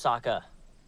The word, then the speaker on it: Sokka: My name's Sokka. Rhymes with awful.